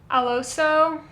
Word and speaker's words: Alosa: I think you pronounce it Alosa, A L O S A.